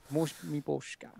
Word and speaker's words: Miposhka: Miposhka? How do you say his name by it? Miposhka. Miposhka.